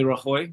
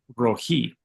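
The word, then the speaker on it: רעי: Then we have Yahweh Rahoy, which is the Lord is my shepherd, and that's in Psalm 23, which is awesome. Um, no, that's not how you pronounce that. That would be Rohi, not Rahoy.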